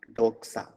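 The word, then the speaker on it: δόξα: So it is KS sound, doxa.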